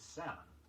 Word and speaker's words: salmon: Another of the words which have an L in their spelling but not in their pronunciation is salmon, S-A-L-M-O-N.